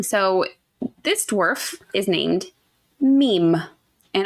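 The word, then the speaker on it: Mîm: And I might call him Mim because it is literally spelled M-I-M. But apparently it's supposed to be pronounced meme. But I just want to throw it out there. Could be Mim too.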